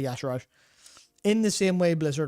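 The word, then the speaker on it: Y'Shaarj: Is it Yesharj? It's Yasharaj, I believe. Yesharaj, okay. It's definitely a charge, but it's literally Yasharaj. Oh, do you mean like it's spelt to be Yesharj, even though it... Yeah, I mean, Okay. I read it as Yasharj, and I'm right all the time, but Blizzard say Yasharaj.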